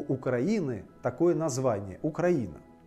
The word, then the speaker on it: Украина: русском языке есть слово окраина окраина с ударением на а украина а есть украина и с ударением на и украина и в русском языке